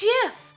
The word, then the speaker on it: GIF: i like the blue no it's jiff it is 100 gif i mean it's not gif it's jiff i said the wrong thing don't even don't add me all right it's jif unholy demons from hell